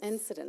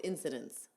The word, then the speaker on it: incidents: What's the plural version of I think that you said it right. Incident? Incidences. Oh, no, it's incidents.